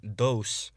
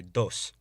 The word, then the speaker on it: dos: bien also remember that the o and e in spanish should be pronounced as monophthongs and not diphthongs like in english what this means is rather than saying dos say dos and rather than tres